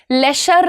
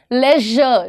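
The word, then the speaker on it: leisure: सबको खुलेआम बोलती हूं आप लेजर बोल के दिखाओ मुझे लेशर नहीं श नहीं लेजर ज ठीक है लेजर ट्रेजर ये जितने भी एस यू आर वाले वर्ड्स होते हैं ना जनरली देर प्रोनाउंसड एज ज ठीक है तो ये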